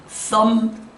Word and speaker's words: thumb: 이렇게 끝이 MB로 끝나는 단어는 이유 불문하고 B가 묵음입니다. 따라서 새끼양, lamb, thumb, bomb, comb.